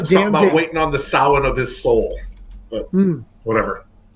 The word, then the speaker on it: Samhain: The Sam Hain brand. Yeah. Yeah. I realize from a Celtic perspective I'm butchering that word, but I have no idea actually how it's pronounced.